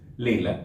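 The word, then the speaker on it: ليلة: the evening in arabi evening is leila layla oren foshat's pronounced leila by the way but in masri it is leila so it will be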